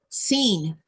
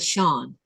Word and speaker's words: Sean: Well, some people would say I've seen people say uh seen instead of Shawn.